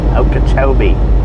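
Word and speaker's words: Okeechobee: Okachobee.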